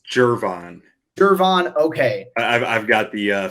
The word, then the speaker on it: Gervon: It's always the pronunciations that mess with me. I don't know. It's Gervon.